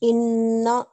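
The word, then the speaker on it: إنّ: Yes, and how should we pronounce this noon? For 2 seconds, inna. Yes, with that strong nasal sound, and for 2 seconds, inna. Inna.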